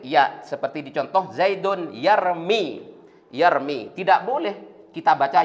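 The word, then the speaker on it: يرمي: tidak boleh kita baca yarmiyu. Harkat dhammanya iya tidak boleh kita munculkan, tidak boleh kita tampakkan. Harus dikira-kira muqaddarah. Maka bacanya yarmi.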